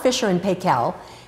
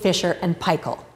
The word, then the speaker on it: Fisher & Paykel: partners fiser and pel which is why we pronounce the name of the company the way we do it's not Fisher and pel and it's not Fisher and P it is fer and pel in 1986 the idea for the dish drawers